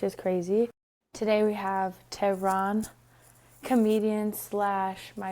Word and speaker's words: Tehran: How do you pronounce it? Tehran.